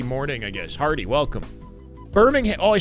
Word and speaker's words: Birmingham: I That's how I pronounce it with a U. Briming. Brimingham. Brimingham. Birmingham. I was going to say Brimmingham.